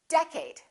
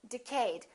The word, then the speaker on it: decade: syllable or second syllable well it's the first one its decade repeat in the next decade a lot of people make a mistake and they say decayed let's take a look